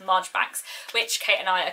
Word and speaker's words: Marjoribanks: And I'm also, by the time this video goes up, will have hopefully read Miss Marjoribanks / Miss Marchbanks. It's written Marjoribanks, apparently it's pronounced Marchbanks, which Kate and I are currently hosting a read-along of.